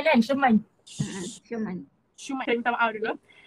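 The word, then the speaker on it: Schuman: Macam nak cikgu pronounce? Shuman kan? Shuman.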